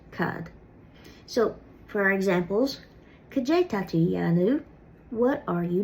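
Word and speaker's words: Cad é: So the Ulster version of what is Cajay, which literally means like what it.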